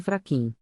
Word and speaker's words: Fraxim: Fraxim pronuncia-se Fraquim.